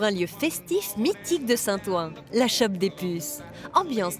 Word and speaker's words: Saint-Ouen: Alors Saint-Ouen, ça s'écrit O-U-E-N, Ouen, Ouen.